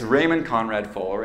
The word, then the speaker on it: Raymond Conrad Fuller: phone call so um i had been pronouncing his name like in my floweriest spanish but actually he's scandinavian and it's raymond conrad fuller and his daughter's name